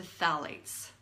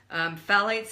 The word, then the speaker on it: phthalates: use them lately then you've exposed yourself to Thalys and these are in their very prevalent in plastics and let me spell it for you I'm sure once you see